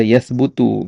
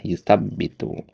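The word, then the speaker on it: يُثَبِّتُ: Biar antum enggak baca yasbutu karena ada dua kemungkinan di situ. Asal kata tsabata yatbutu dengan tsabbata yutsabbitu. Dikasih tasid sini pembeda ya. Yang benar itu adalah yutsabbitu gitu.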